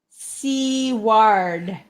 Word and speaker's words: Seward: And Jordan says it's pronounced Seward, which is how I pronounced it, Jordan.